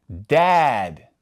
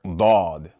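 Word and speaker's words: ضاد: And when they're paired with a fatha, we're going to pronounce that A sound more like aw rather than a as we do with the light letters.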